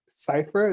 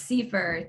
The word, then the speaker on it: Siefer: And we have Seifer. Is that the correct pronunciation of your name? It's Siefer.